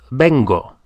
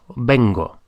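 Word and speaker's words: vengo: to come is Ben but I come is Beno v n g o Bango so that's our first one I come is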